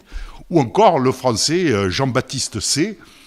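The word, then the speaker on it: Say: John Stuart Mill, évidemment, avec ses principes d'économie politique qui paraîtront en 1848, ou encore le français Jean-Baptiste C. C, ça s'écrit S-A-Y, pour ceux qui ne connaissent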